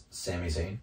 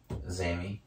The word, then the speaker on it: Sami Zayn: Sami Zayn, There it is. Zammy.